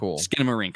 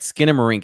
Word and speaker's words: Skinamarink: you'll hear my thoughts I have intentions but skin marink open it up all right skin marink and I just I literally just learned how